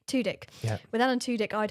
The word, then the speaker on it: Tudyk: And I would be with Alan is that how you pronounce it? Tudyk. Tudyk.